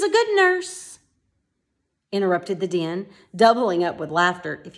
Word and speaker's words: Dynne: discord and it just simply means it sounds a lot like Din di n okay although his name is spelled ey in any the word din